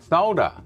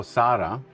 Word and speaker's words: solder: Solder. S O U L D. Solder or S O L D. solder. Not solder or sarda. I don't know where the a comes from in the American language. Sarta.